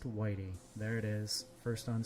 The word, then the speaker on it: Whitey: Yesterday or the day before, his name is pronounced Whitey.